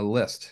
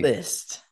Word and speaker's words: Liszt: God it's Mr litz I got that right right is it litz uh list you don't pronounce the Z list okay awesome you got